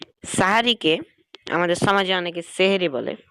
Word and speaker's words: সাহারি: শেষ রাতে আমরা যে খাবারটা খাই ফজরের আগে, সেটাকে বলা হয় সাহারি। আর সেহের বা সিহর, এটা হচ্ছে জাদু। অর্থাৎ সেহেরি বলে জাদু হয়ে যায়, মানে উচ্চারণগত পার্থক্যের কারণে।